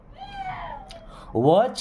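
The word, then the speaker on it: watch: learn आप कैसे सीखेंगे वच केयरफुली अब देखिए यहां पर टी साइलेंट होता है ना सीच के पहले टी आता है तो साइलेंट ही रहता है ओ जैसे कैच होता है वच होता है ओके वच केयरफुली केयरफुली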